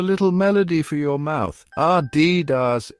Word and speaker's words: Adidas: The correct pronunciation is Adidas. It's simple once you know the trick. That's R like the beginning of apple, followed by D like the letter D, and then Das rhyming with jazz.